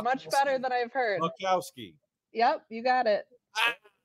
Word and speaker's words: Boczkowski: one, the only, Boczkowski. Hey, guys. You did good. The Z is silent, though. But otherwise, you did pretty good. Much better than I've heard. Boczkowski.